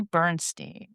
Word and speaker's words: Bernstein: Tonight we are joined by Amy Bernstein. Hi Amy, I sure hope I pronounced your last name correct. You got it. Got it right.